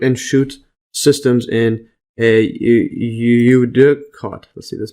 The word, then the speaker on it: eudicot: So root and shoot systems in a eudicot. Let's see this pronunciation.